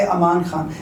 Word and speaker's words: Amaan Khan: अच्छा, सबसे पहले मेरा नाम आप सर्च कीजिएगा टिकटॉक, यूट्यूब, इंस्टा, हर जगह पे अमान खान। पर स्पेलिंग लोग मिस्टेक कर देते, अमन लिख देते, AMAAN है।